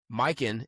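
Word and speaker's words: Mykyn: We want to show some love to our first ever sponsor, Mike. That's spelled M Y K Y N. Mikin is a high-end luxury eyewear brand focused on quality, craftsmanship, and timeless style.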